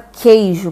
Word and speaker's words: queijo: Aqui nós temos apenas um som, que você não consegue identificar o som da letra U. Na palavra queijo, por exemplo.